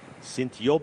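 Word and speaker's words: Sint-Job: say it again please s yob in yob spelt Sint s n t uh is j o in G is an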